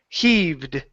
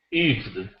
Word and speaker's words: heaved: next word here is heaved heaved heed okay now we want to pronounce the h he yeah pronounce the h that's why the H is there heed heaved there you